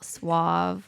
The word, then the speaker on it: suave: Um, rather than be like being all suave like James Bond. Suave. Is it suave or suave? Well, it's suave. if you're saying it correctly.